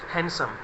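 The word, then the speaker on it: handsome: Height में, and more हैंडसम, और काफ़ी सुंदर भी हो। इसको हैंडसम नहीं बोलते गाइज, यहाँ पर डी साइलेंट होता है, एन डी के कॉम्बिनेशन में डी साइलेंट होता है, हैंडसम।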